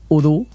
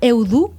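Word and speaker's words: ho du: O du hauria de ser udu, d'acord? Que és diferent que duro, per exemple. I si jo diguera eudu, estaria bé?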